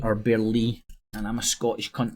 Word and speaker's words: Burleigh: I've just not heard anybody say the right pronunciation, so I'm unsure, but I'm sure it's Lee.